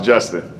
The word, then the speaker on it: Justin: your name correctly yeah it's hard to mispronounce justin actually your neighbor has been mispronounced what have you got jason you get jason a lot that's like older